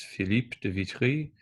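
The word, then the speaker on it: Philippe de Vitry: So I'm attempting to pronounce these as they would have been pronounced as as native speakers would pronounce them. So these are French composers. So you would pronounce their names Phipe Devitri and Guom de Masho.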